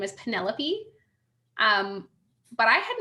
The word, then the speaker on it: Penelope: know odd sure but penelope does not really look on the page the way that you would pronounce it of course so i called her penny lope for the whole summer and no one corrected